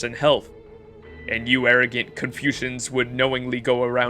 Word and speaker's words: Confucian: slapped with the con how do you you pronounce it dude confusion confusion just like confusion that's why we're being